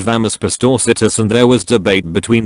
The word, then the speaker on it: Pastorcitas: I said the soft C is pronounced like an S. An old lady in the group said it was pronounced like the CH in cheese. I said you're thinking of Italian. In Spanish it's pronounced as an S, or in many European Spanish dialects like a TH.